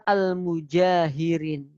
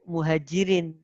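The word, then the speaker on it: المجاهرين: kecuali di situ illa almjahirin tolong bacanya dengan keliru Muhajirin salah yang yang yang tulisannya adalah almjahirin bukan Muhajirin kalau Muhajirin semuanya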